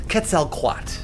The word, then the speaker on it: Quetzalcoatl: It's pronounced Quetzalcoatl. Quetzalcoatl.